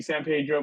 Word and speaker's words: San Pedro: call it cabillo uh should be San Pedro but yeah we call it Zan Pedro well I know in